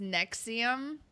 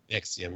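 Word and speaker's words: NXIVM: It's pronounced Nexium. Nexium.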